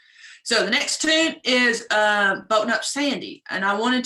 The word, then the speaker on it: Boatin': How do you spell that song, Boatin Up Sandy? Where's Elizabeth's one? The first word that you're saying, is it boatin'? Boatin', yeah, like a boat, like you're boating up Sandy, but it's with a apostrophe.